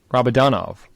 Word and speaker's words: Rabadanov: Rabadanov.